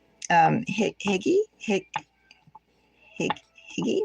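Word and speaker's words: hygge: you now I know how to say it Huga Huga hestad okay I'm G to go and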